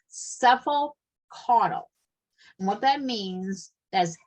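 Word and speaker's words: cephalocaudal: NCLEX likes this kind of term is called cephal cuddle and what that means as head to toe and I'm going to spell it for you are you writing down C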